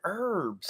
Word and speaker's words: herbs: again bethany booby says why do americans say that h okay say that word and herbs people in new york don't though what do you say i say herbs they're herbs herbs herbs and spices